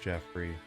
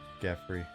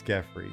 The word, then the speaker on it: Geffrey: It's not pronounced Jeffrey. Geffrey. Nick, is it pronounced Jeffrey or Geffrey, his last name? Because Geffrey is a cool, Englishy sounding fantasy last name if I say so myself. Yes, it's Geffrey.